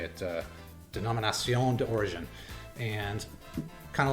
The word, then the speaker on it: Denominación de Origen: Denominación de Origen.